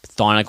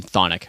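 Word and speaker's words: Chthonic: know the past week that they that they pronounced their word their name thonic I always thought I was like I don't know what but yeah yeah but it's it's Sonic apparently silence C you know who has silent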